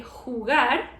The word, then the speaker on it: jugar: In Spanish, the letter J is pronounced like ja, okay? Very strong. And the H, well, the H is silent. So mispronouncing this can make your speech a little bit difficult to understand. For example, if you say jugar, to play, jugar, right? Not jugar, but jugar.